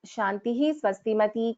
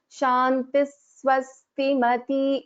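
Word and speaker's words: शान्तिः स्वस्तिमती: For example, I will not pronounce this as Shantihi Swastimati Kantir Nandini. I will pronounce this as Shantis Swastimati. There is a slight another Sakara which is heard. Shantis Swastimati. That is how we pronounce.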